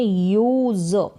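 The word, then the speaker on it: use: फिर आगे है यूज, अब एस का उच्चारण ज करके हो रहा है, एस को स भी पढ़ते हैं, एस को ज भी पढ़ते हैं।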